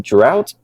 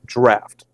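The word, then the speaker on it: Draught: what's the difference between drought and extra Stout so believe it or not it's actually pronounced draft that's because this style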